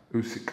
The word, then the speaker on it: Usyk: Usyk. Yeah. That's normally say it right. Usyk undercard.